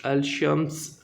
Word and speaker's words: الشمس: حروف شمسی کہتے ہیں۔ یہ نام اس لیے دیا گیا ہے کہ جب الشمس میں پہلے الف لام لگایا جاتا ہے تو لام کی آواز ظاہر نہیں کی جاتی۔ جن حروف میں لام